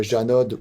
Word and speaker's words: Janod: du coup on a la marque donc Janod ou Janot tout dépend comment on aime le prononcer mais c'est plutôt gerdon en général voilà donc du coup